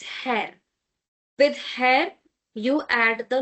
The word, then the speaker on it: Herr: male, for a male person, basically you use Herr. Herr. Don't say her. It's Herr.